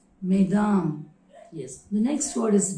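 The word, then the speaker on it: mesdames: in number then we should say good morning maidam that is the plural form but here i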